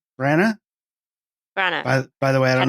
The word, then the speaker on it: Branagh: How do you pronounce his name? Branagh. Branagh.